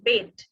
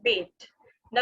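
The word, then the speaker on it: Bede: সো কেটমান, Saint বেড, অনেকে কিন্তু বেডে বলে বুঝায়, এখানে ইটা কিন্তু অ্যাকচুয়ালি আগে উচ্চারণ হতো, এখন আর উচ্চারণ হয় না। সো এটা হবে সেন্ট বেড দ্য ভেনারেবল, মানে উনি তখন লিখতেন, উনি মেইনলি হিস্ট্রি লিখেছিলেন।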